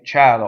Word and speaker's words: cielo: Cielo, or heavens, right?